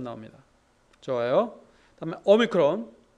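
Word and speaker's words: όμικρον: 발음 나옵니다 좋아요 그다음에 오미크론 난 오 발음 오 긴 오가 아니라 짧은 오입니다 어 피피는 프 프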